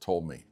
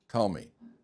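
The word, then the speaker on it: Ptolemy: I think it's pronounced tool. How do you pronounce it? Tomli, right? With a P like pneumonia, right?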